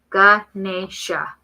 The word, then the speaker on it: Ganesha: Oh no, it says Guh. Ganesha.